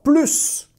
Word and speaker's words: plus: Situation « plus » a un sens positif, on le prononce avec un « s ». J'adore, j'en veux encore plus.